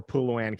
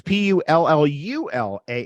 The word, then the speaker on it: pullulan: So I always choose vegetarian or Puluan capsules. What's that last thing you said? Can you spell that? Yeah, Puluan is Pullallan. I've never heard of that before. What is that? Sorry, it's Pullulan.